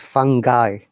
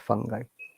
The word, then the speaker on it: fungi: fungi actually it is fungi you see it's a very difficult word let me show you the ipa how it works fungi fungi fungi guy not fun guy um let me show